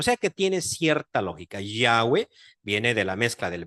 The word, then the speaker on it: Yahweh: simplemente la españolizacion yahwe de hecho yahw cuesta mucho pronunciarlo porque no suena a español en español no terminamos una palabra con una H Cómo hacer eso no O no tenemos una H intercalada eso es muy difícil